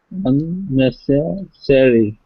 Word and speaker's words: unnecessary: the IPA symbols, but the stress is on the second syllable. You'll see a little aster, not asterisk, a little apostrophe on the second syllable. Not the first, on the second. Unnecessary.